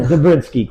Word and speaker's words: Dobrinsky: This is Dobrinsky. Did I pronounce that right? Dobrinsky, close Dobrinsky.